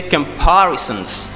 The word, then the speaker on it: comparisons: I say comparisons. When I say comparisons, because the stress is on P.